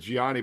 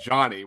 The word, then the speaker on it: Gianni: Yeah, I never thought it was Yanni. I've always said Gianni, but it sounds like people are saying Johnny, which I've never understood.